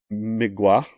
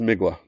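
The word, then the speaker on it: Mgła: people do, but it's Migala, M-G-L-A, anybody? Bueller? I'm pretty sure it's Migwa, which translated means fog.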